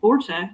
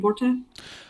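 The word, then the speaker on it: Borte: are immediately roasted by Borta. We're saying Bhorta. Oh, interesting. I've called her Bort, but we can call Borta. That's fine. Let's call her Borta so she doesn't rhyme with Mort.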